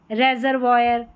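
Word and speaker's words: reservoir: जैसे यहां पर है memoir memoir O आई आर सभी में लास्ट में है ये है रेजरवायर रिजर्व यहां पर है क्वायर क्वायर ठीक है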